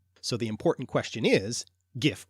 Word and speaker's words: gif: So the important question is, gif or jif, Norse or French? Well, as far as I'm concerned, it's an English word, so it should be pronounced yif.